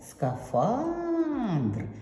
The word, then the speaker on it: скафандр: А куди ж падає наголос в слові скафандр? Це що? скафандр і відповідь скафандр наголос падає на другу а.